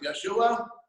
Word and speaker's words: Yeshua: But again, they argue over the name Yeshua or Yahushua, whichever however you want to, I generally pronounce it Yeshua.